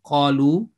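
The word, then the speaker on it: قالوا: you will see that there is no role at all of this alif in the pronunciation because if you remove that in the appearance it will be kalu if you if it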